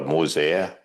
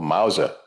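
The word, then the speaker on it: Mauser: Uh people carrying long guns in those days they had those long they call mosa or mousa that's how they pronounce one in English mousers.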